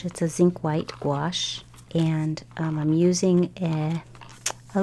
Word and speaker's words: gouache: in that gouache wash actually gouache is sometimes pronounced goo wash or I don't know but I like to call it gouache it just sounds fun now I'm going in with